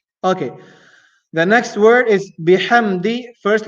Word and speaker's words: بحمد: And the last letter in the second word is the letter dal. The letter dal pronounced using the top tip of the tongue. Da. فسبح بحمد da di do da di do, and here is di, so bihamdi di.